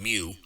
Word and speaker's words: mu: And that basic calculation is my x minus my mu, that little cursive u is actually pronounced mu, x minus u divided by sigma.